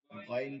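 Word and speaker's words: غين: ওইখান থেকেই বলেন রহ খ এর ওই কফ ফালানোর মতন ওইখান থেকে গ উচ্চারণটা করেন গাইন আচ্ছা এরপরে এরপরে গোল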